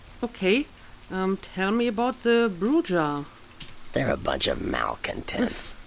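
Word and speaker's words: Brujah: Okay, so apparently it's pronounced Bruja.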